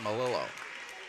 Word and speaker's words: Malillo: I think we were correct with it the first time around, and we will stick with our initial thought, Malillo, as Reuters unable to make the first free throw.